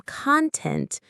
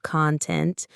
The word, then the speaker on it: content: If you say I have content, stress on the first syllable, it means you have material or substance. The same letters, a completely different meaning, all because of stress.